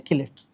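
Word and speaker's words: chelate: অনেকে চিলেটস বলে। মেইন উচ্চারণ হচ্ছে কিলেস।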